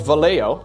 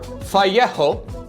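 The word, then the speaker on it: Vallejo: there's a painting brand called valo or fjo I guess is how you should pronounce it um I believe they're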